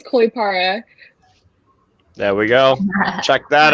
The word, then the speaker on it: Kollipara: pronounce your last name um caulipara the last name is 100 right it is koi para there we go check